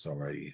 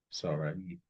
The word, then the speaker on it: Sarai: So it is Sarai how it looks. Sarai.